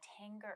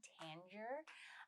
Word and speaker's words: Tanger: it's called the uh tanger outlet i was saying tanger but actually it's pronounced tanger outlet and there's two outlets